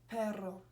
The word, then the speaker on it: perro: So, for example, in Spanish, the word for dog is perro. So, but there's another word which is spelled very similarly but with one R, perro, and that means but and that means dog.